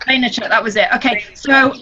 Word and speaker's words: Vaynerchuk: But I will say I did, Gary, do you know how you pronounce his name that spoke at Summit, Rachel? His last name is great. Vaynerchuk. Vaynerchuk, that was it.